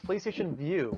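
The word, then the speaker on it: PlayStation Vue: PlayStation View. Just like, VIEW, they just changed the spelling on us.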